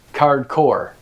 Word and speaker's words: Cardcore: Hence, Cardcore. And It rhymes with hardcore.